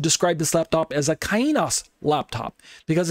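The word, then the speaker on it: καινός: By comparison, the Greek word kainos, some people say kainos or something to that effect, kainos, but kainos is how I pronounce it.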